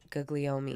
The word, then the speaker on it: Guglielmi: How do you say the last name? Guglielmi. Guglielmi. That sounds Italian.